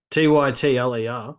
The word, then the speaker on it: Tytler: Titler? How do you say his last name? Tytler. Silent T, mate. A silent T, is it? Yeah, middle there, that's silent.